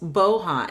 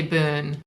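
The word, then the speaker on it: Bohn: child usa it's alice bohan and am i saying your last name correctly it's actually boon boon okay now then spell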